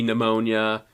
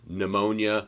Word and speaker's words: pneumonia: pronounced same thing with pneumonia right we don't pronounce the p it's not p pneumonia or pneumonia it's pneumonia the p is silent